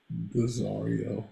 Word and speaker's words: Daario: prefer to call desario today Daario it's like Zar you spend did you